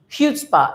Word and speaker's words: chutzpah: It is HU. It's like there is CHUTZPAH, but we need to spell it chutzpah. It's like HU only. Okay, only HU, no C. So if it were HU, what would you say? Chutzpah. That's the way we need to say this.